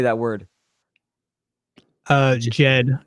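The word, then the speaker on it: Djed: Egyptian how do you say that word uh Jed it's just Jed killer yeah yeah what it represents it's symbolic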